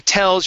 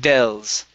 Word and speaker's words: tells: your t sounds awesome when you're pronouncing tells you're saying dels to tell us uh-huh there you go that's the t tells her tells her